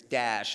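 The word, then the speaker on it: Daesh: Arabic, whatever they it's dash is sort of how you pronounce the acronym in Arabic. They call it dash, but that's who it is.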